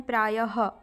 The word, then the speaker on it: प्रायः: इसको भी याद रखिएगा विसर्ग का उच्चारण शब्द के अंत में तथा उपसर्ग के अंत में क्या होता है ह जैसे प्रायः यहां पर